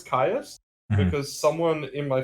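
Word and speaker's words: Kyuss: Caius. That's how you pronounce it. I know it's Caius Mm-hmm.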